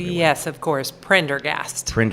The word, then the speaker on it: Prendergast: There's only one R. Yep, that's right. And it's at the beginning.